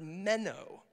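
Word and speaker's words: μένω: to abide it just it's pronounced as just the way it's written it's the word meno say with me meno menow to abide to remain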